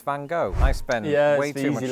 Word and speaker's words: Van Gogh: we agreed with my wife's consensus that it's Van Gogh.